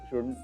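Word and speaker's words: should: ओ यु एल डी एल डी म्हणजे एल असतो एल दिसतो पण तो म्हणायचा नसतो आई शपथ हेच आहे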